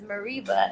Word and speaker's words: Mereba: okay and the and the American Way pronouncing it is Mareeba and you were talking